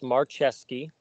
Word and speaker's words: Marcheski: So it's Marcheski is the way you pronounce it, just for the record.